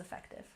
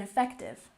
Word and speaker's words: effective: And effective. Emphasize the second syllable.